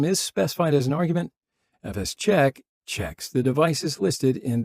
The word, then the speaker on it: fsck: will be FS CK sometimes referred to as fist check FS Che Fisk physic fi fock but really there is no greed upon pronunciation that's why pretty much you want to pronounce it fsck for file system check or FS check all right so anyway